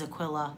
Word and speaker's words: Aquilla: Actually, Aquilla da Hun, it is Aquilla, I know how to say it now.